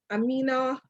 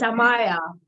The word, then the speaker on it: Amaya: She's the mother of one daughter, Amina. Am I pronouncing your daughter's name correctly? It's Amaya, or we call her Ami.